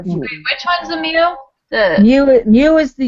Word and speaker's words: mu: u is pronounced mu. It's a symbol, so it's mu.